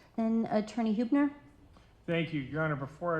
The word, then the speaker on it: Huebner: I'm Pastor Huebner. The last name is spelled H U E B N E R.